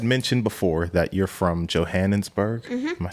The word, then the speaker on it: Johannesburg: myself so no you said it right though Johannesburg Johannesburg okay I'm not gonna say it again oh